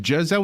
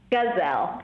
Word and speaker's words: Gazelle: and and the website is it pronounced jezelle with a soft G or gazelle gazelle like the animal G a z e